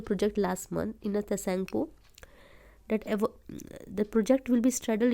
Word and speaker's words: Tsangpo: The project was Yasulat Yarlung Tsangpo River, not T is silent here.